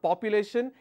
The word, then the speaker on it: population: more than 1 billion it's not population its population all right so t i o n also follows the same rule where the penultimate syllable will have the stress so please do remember that all right now moving